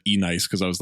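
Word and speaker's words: Enyce: There was a time where I thought Nietzsche was pronounced E-nice.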